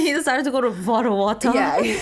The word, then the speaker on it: Vanuatu: Vanuatu.